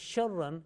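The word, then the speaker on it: شَرًّا: And the third word is sharran. Here, sharran, ra with tashdid plus two fatha. Tanween with tashdid. Tanween of fatha or fathatain with tashdid, with shadda. Sharran.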